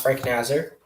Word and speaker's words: Frank Nazar: the united states national development team okay oh frank nasir okay i thought i thought that's pronounced frank nazar what yeah me too yeah everyone did to